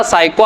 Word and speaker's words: psycho: ना अपन के बड़ा साइको आदमी है, तो उसी से याद रखेंगे साइको। साइको में बस काय को P को साइलेंट करना, बस PSYCHO, और साइको के बाद में अपन क्या रखेंगे?